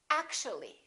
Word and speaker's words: actually: and we say basically take a look at this one actual three syllables actual but if we add the ly like here this disappears and we say actually actually we don't say actually